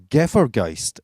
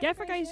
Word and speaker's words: Gefahrgeist: Gefahrgeist, yeah, you did. I yeah, that's right. did. It's not how Germans say it, though. They say it like Gefahrgeist, yeah, but we've just. Gefahrgeist.